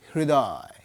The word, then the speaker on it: হৃদয়: খেয়াল করো শব্দের শুরুতে মাঝে কিংবা শেষে হ এর সঙ্গে যদি ঋকার হয় রফলা থাকে তাহলে সেই র এর উচ্চারণটা মহাপ্রাণ হয় যেমন এই হ তার সঙ্গে রফলা যুক্ত হয়েছে এই রফলা উচ্চারণটা কি হৃদয় নয় হৃদয় হৃ এই যে বললাম সেই রফলার সঙ্গে হ সাউন্ড যুক্ত হবে হৃদয় হৃদপিণ্ড পরিষ্কার